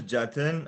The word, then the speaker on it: Jatin: yeah my name is jatin uh the best way to pronounce it is are taking out s from justin and there you go i like that yeah